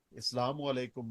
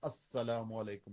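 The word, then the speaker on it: السلام عليكم: ऊपर इस्लाम हो क्योंकि आप बीच में लाम डालना भूल जाते हैं सलाम के स्पेलिंग हैं अलिफ लाम सीन लाम अलिफ मीम अल सलाम वालेकुम उसको जब हम लाम को साइलेंट कर देते हैं तो वह अस्सलाम वालेकुम हो जाता है लेकिन लाम वो अपनी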